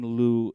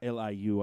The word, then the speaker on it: Liu: he gets it done can Lou its Liu I propose as if